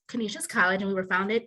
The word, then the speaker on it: Canisius: about our college um we are our school pronounced canisius college and we were founded in 1870 by